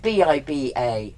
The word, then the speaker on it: Biba: But it's spelled differently. It's Biba.